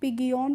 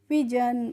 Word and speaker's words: pigeon: तो इसको पिग ईओन क्या करेंगे? अगर आपको प्रोनाउंसिएशन नहीं आता है तो हो सकता है आप इसको पिगियोन पढ़ सकते हैं, लेकिन इसको पिगियोन नहीं पढ़ते हैं। क्या पढ़ते हैं? इसको हम पढ़ते हैं पिजन।